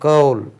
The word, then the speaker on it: coal: இதை கோலுக்கு கவுல், கவுல், கவுல், அது கோல் கிடையாது, நம்ம கோல் தான் சொல்லி பழகியிருக்கோம், கவுல், COAL கவுல்.